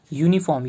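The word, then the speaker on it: uniform: यूनिफॉर्म, आप यहाँ पे बोलोगे वॉवेल है तो इसके आधार पे एन आना चाहिए, लेकिन नहीं, यूनिफॉर्म यू का उच्चारण है, ठीक है। यहाँ पे यू आ रहा है, हम लोग का प्रोनाउंस करने पे यू का हो रहा है, तो हम यहाँ पे ए का यूज़ करेंगे।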